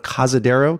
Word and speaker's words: Cazadero: in the town of Cazadero, California. Did I say it properly? You said it correctly.